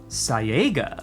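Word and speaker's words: Cyaegha: Hi, I'm Holly, the servant of Kyaga. And as far as Chaosium is concerned, that word is pronounced Sayaga.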